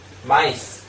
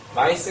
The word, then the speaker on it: maïs: 이중 모음 이 없기 때문 에 일반 적 으로 "i" 는 발음 하지 않고 "eh" 로 바뀌지만 , 여기서 는 "i" 를 발음 해야 합니다 .